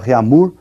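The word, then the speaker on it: Réaumur: a escala reunir que nós vamos pronunciar reamur aqui aportuguesado de novo e essa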